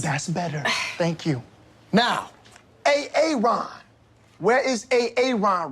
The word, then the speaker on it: Aaron: I'm just asking, I said it like 4 times, so why didn't you say it the first time I said A.A. Ron? Because it's pronounced Aaron.